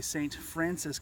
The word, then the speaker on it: St. Francois: you this is the st. Francis campground as its pronounced here in Missouri however the spelling of it is st. Francois just to made that specific